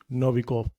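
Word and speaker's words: Novikoff: इसको ऑब्जर्व किया प्रेक्षित किया देखा वह था नोविकोव इंग्लिश में स्पेलिंग है इसकी एन ओ वी ई वी आई के और डबल एफ नोविकोव है ना ये नोविकोव तो न नोविक ने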